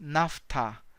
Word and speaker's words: naphtha: spelling for example NAFTA and a pH pH pronounces F NAFTA TJ rows in this